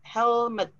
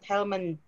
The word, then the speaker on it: helmet: is it done okay it's actually without n so it's helmet not helmand okay what helmet h-e-l-m-e-t you